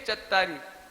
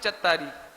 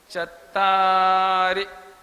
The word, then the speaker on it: चत्तारि: एक है चत्तारी, तो आप बोलते हैं चत्तारी, तो इसमें रा में बड़ी की मात्रा हो जाती है, ये गलत हो जाता है। मां छोटी की मात्रा है, देखेंगे आप प्राकृत में, प्राकृत में तो उसको ऐसे बोलेंगे चत्तारी। उच्चारण समझ में आया आपको? चत्तारी, रा में छोटी की मात्रा होने से उसका उच्चारण लघु कहलाता है, ह्रस्व, ह्रस्व कहलाता है वो।